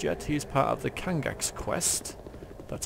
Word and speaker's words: Kangax: He's part of the Kangax quest. That's how you pronounce that.